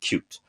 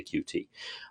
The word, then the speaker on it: Qt: which by the way officially is pronounced cute but i really don't know people who use that pronunciation we mostly say qt um and so it